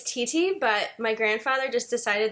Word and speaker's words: Titi: Yeah, so it's Titi, but my grandfather just decided that he felt like being different. And so I was pronouncing it for about 28, 29 years, and then my